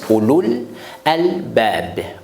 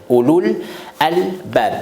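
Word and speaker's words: أولو الألباب: On prononce Ulul Albab. Ulul Albab. La vérité, c'est l'âme avec waw, il faut prolonger. Mais ici, on ne prolonge pas.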